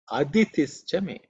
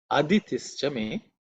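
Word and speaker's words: अदितिश्च मे: The next mantra is Aditischa me. Aditischa me. Aditischa me. In this mantra also, the I is normally silent when you chant.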